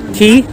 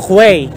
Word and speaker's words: Quay: That's how they pronounce it. Is it? Key? Not quail. Kala ko quay.